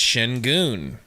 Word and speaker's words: Şengün: That's how you say his name, Metro. It's Shingun. That's literally how it's said.